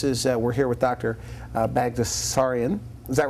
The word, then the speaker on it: Baghdasaryan: Baghdasaryan. Is that right? Did I pronounce it right?